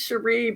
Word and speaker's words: Sherré: Mayo hi hello there my name is pronounced Sheree but there was no